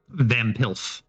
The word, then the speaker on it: Vampilf: Vampilf. Like MILF, but vampy.